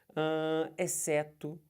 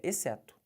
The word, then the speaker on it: exceto: antes de ir beleza exceto tá vendo eu não falei certo Não faça isso é exceto Olha o NH aqui